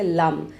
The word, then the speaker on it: लं: Lump. इसे English में एल ए एम बोलेंगे। पर हम इसको संस्कृत में डिफरेंटली प्रोनाउंस करते हैं।